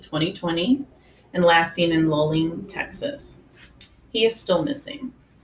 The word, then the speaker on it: Luling: I keep saying Luling. Is it Luling? It's Luling.